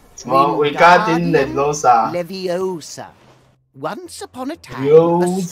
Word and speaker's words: Wingardium Leviosa: The is Wingardium Leviosa, just like this. Wingardium Leviosa. Pay attention 我按了哦。 It's 什么 Wingardium Leviosa？